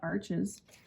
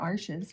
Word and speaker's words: Arches: it's certainly not great it's not arches or arches if I were to say it correctly which I never do so yeah so I